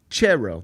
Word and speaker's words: Thiero: was the beat writer, it was Almami Chero. That's how we were told to pronounce it. Almami Chero. But every one of us rednecks in Memphis just called him Thiero.